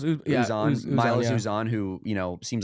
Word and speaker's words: Uzan: Uman? Is that how you say it? Uzan? No, it's Milos Uzan.